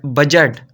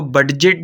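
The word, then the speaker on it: budget: देखते हैं जी बड बजट हम इसको बजेट नहीं बोलेंगे इसमें डी साइलेंट है हम इसको बजट बोलेंगे आगे सी आ है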